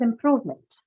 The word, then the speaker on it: improvement: Meant is a neutral suffix. It does not bring about any change. But because improvement comes from the verb improve, Yes. and it is stressed on the second syllable proof for verb, the